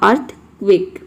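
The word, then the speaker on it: earthquake: अब यहाँ पे देखिए क्यू जो है, क्यू के साथ हमेशा यू आता है, यानी कि क्यू जो वर्ड है वह अकेला कभी नहीं आता। किसी भी वर्ड में आप देखेंगे कि क्यू अकेला कभी नहीं आएगा, इसके साथ हमेशा यू आता है और इस क्यू यू को हम क्वा प्रोनाउंस करते हैं।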